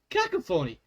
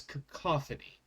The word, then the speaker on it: cacophony: I said, cacophony. And I looked at them like, I guess I'm not saying it right, am I? I've never used that word out loud before. I've only seen it in writing. And they're like, no, it's cacophony.